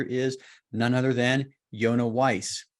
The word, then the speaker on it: Weiss: Experienced investor today is Josh Appelman, and our aspiring investor is none other than Yonah Weiss. Rhymes with nice, apparently.